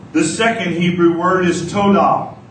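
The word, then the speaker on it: towdah: say yah Y the second Hebrew word is TOA say TOA to spell t o w d a h but pronounced to it's it means to extend the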